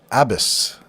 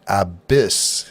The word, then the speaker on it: abyss: We would put the emphasis on the second syllable of that one if you follow Hooked on Phonics. And the word that we would normally hear as abyss, with the emphasis on abyss, he renders out as abyss.